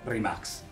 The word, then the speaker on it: Rimac: web por lo pronto rímac es la única propuesta disponible que por cierto voy por ser croata en realidad se debería de pronunciar rimax una lluviecita de spex